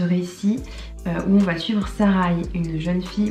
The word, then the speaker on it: Sarai: On a aussi un deuxième point de vue dans ce récit où on va suivre Sarai, une jeune fille, moi je dis Sarai, ça s'écrit Saré avec AI à la fin, mais je dis Sarai.